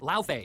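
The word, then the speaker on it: Laufey: Oh, and she's actually a frost giant named La Fay. And that's how you say it, not Lee, like a pop star, which is frankly messed up.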